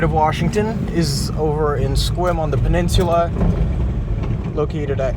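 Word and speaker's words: Sequim: That's spelled D R Y K E and uh the city Squim. S E Q U I M.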